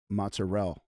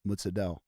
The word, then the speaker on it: mozzarella: So they'll say mozzarell and it's not leaving off the a, it's mutzell with a d. Mutzadell.